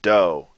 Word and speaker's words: dough: Let me slow it down. Dough. Dough. Hear that? It's actually two different vowel sounds. Dough. You probably don't even notice it. I guarantee you pronounce it the same way. Slow it down. It's two different vowel sounds. You cannot pronounce it like that in Lojban.